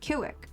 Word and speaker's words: Civic: Because C's are always pronounced as K's, like a hard C, and V's are pronounced as W's. So Honda Civics were my nemesis at the time. I was so confused cuz they were pronounced Kiwik when I was taking